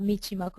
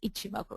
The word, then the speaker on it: Ichimoku: I keep mispronouncing this indicator myself. It's not Michimoku, it's Ichimoku, right?